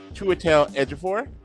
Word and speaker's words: Chiwetel Ejiofor: And I take great pride in pronouncing his name correctly, Chiwetel Ejiofor.